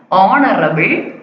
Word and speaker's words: honorable: h வந்து silent ஆகும்போது நம்ம எப்படி pronounce பண்ணுவோம்? honorable man.